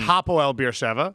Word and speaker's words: Hapoel Beersheva: I said Hapoel Beersheva, which would be a Cypriot team. It's Hapoel Beersheva.